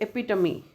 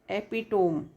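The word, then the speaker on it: epitome: उस वर्ड का जैसे एपिटमी है ना, तो इसका साउंड स्पेलिंग क्या है? एपिटोम। लेकिन इसका साउंड क्या है? एपिटमी। एपिटमी। एपिटमी, ये इसका साउंड है, एपिटमी, है ना।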